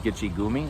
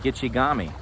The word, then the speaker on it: Gitchigami: They don't call it Gitchigumi. They call it Gitchigami.